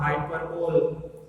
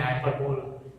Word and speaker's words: hyperbole: याद रखिए इस वर्ड को जरा ठीक से प्रोनाउंस करना है. स्पेलिंग वाइज भले ही ऐसा दिखता हो हाइपरबोल, कई लोग ऐसा भी बोलते हैं हाइपरबोल, लेकिन हाइपरबोल नहीं है, वो हाइपरबोली है.